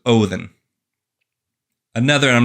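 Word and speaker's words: Óðinn: The D, you would think in Odin is like in loathe, the. So Othin.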